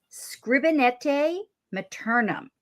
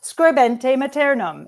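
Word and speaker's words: Scribere Maternum: and September's sponsor is Scribinete Maternum. And I'm going to correct your pronunciation now. Scribente maternum. It is Latin writing mother.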